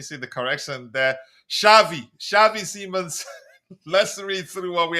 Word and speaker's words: Xavi Simons: Shavei Shavei Semons.